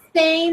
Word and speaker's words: Spain: Girls, remember that Spain and Spanish don't have an E at the beginning, only the S. So we only pronounce the S.